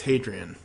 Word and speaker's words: Hadrian: got it right and it's basically Adrian with an H sound at the begin so it's hadrien uh so cuz for